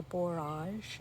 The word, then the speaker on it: borage: So my borage, or borage as some people pronounce it, is really doing well.